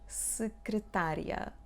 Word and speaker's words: secretaria: Secretaria, secretaria. Pay attention here, we do not pronounce the sound E. Secretaria. And IA make the sound ya.